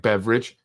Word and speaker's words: Beveridge: The redistricting that was recently given to a gentleman by the name of Andrew Beveridge, not spelled like beverage, but sounds like beverage.